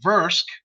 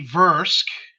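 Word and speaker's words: Vrusk: yazarians dralocite and the versk race which sometimes get mispronounced by people like even me as the verse and so he has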